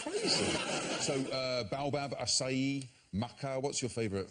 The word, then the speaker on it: baobab: Now, have I got the pronunciation right, first of all? Baobab, yes?